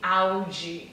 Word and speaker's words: Audi: Eu sou muito chata com esse D e o T, porque é o que faz muita diferença na pronúncia dos brasileiros, tá?